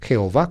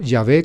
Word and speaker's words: Yahvé: En el texto bíblico está el nombre divino, Jehová, como leen generalmente los evangélicos, o Yahvé, como nos atrevemos a pronunciar nosotros los católicos.